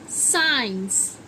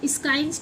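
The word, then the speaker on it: science: पर आज तक आपको रूल नहीं पता होगा कि साइंस स्काइंस क्यों नहीं पढ़ा जाता इसको?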